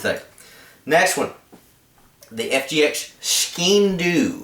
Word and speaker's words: Skean: Next one, the Fgx Skean is how I think this is pronounced.